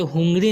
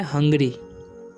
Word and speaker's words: hungry: अब ये यहाँ पर HUNGRY है, ठीक है, तो इसे हुंगरी नहीं पढ़ना है, क्या पढ़ना है? हंगरी, हंगरी, क्योंकि यू का उच्चारण यहाँ पर अ हो रहा है, ठीक है।